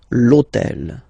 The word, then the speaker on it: l'hôtel: starts with H, but remember that in French we don't pronounce H, okay, so basically the first sound of the word is the vowel O, okay, so for the same reason, needs to disappear.